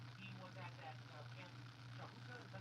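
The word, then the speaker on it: Huachuca: He was at that camp, Shahuka, is that how you say it? Mahuka? Wachuca, Wachuca, that's like Hatua, Wachuca.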